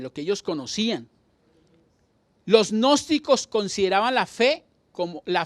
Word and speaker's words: gnósticos: y sigue gnósticos pero la g pues no la leen pero así se escribe los gnósticos ellos era